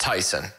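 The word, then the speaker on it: Taisun: i've looked it up so it's t-a-i-s-u-n that's pronounced tyson and p-h-o-m-m-a-c-h-a-n-h oh it's tyson pumachon really tp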